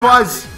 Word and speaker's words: Kwaz: Kwaz! Kwaz! I don't know if you ever watched, not to plug UK or European players, because EU, but real! If you ever watch Kwaz. That is the correct pronunciation.